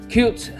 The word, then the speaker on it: Qt: it's the same as c-o-t-e cubed so anyway cute is a development sdk it's a it's a